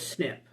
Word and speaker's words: SNP: single nucleotide polymorphism and we pronounce it as snip this is one when